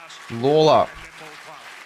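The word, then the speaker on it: Lalor: wow there you go so Sam laa is how you pronounce it laa Sam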